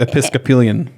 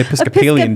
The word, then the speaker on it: Episcopalian: comics in hollywood and being raised episcopian you can't even pronounce it it's the paleon that sounds like a diet i'm on the episcopalian diet episcopalian it's pelian no no that's what